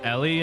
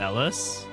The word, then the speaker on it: Ellie: Like it's Ellie and not Ellis.